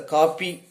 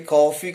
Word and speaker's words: coffee: conversation for instance uh coffee c-o-f-e this is a coffee but most of us are pronouncing this word as a copy in our tamil conversation we often say copy but we are not pronouncing correctly coffee coffee is the correct pronunciation but we are pronouncing